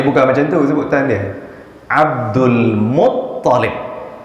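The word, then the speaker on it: عبد المطلب: Abdul Muttalib, dia punya T tu yang double, bukan L.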